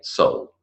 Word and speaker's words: Seoul: We don't say Seoul, we say Seoul, as in your soul, the sole of your shoe, the fish is a Seoul, and the city in South Korea is a Seoul. The spelling is different, but the pronunciation's the same.